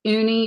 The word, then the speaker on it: Junie: health field Junie Desiree I think her name is pronounced uni but it's got a J on the front she's Australian I'll toss